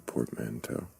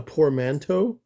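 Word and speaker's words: portmanteau: A poor manto. Is that what you said? No. Did I say it wrong? What is it called? Portmanto.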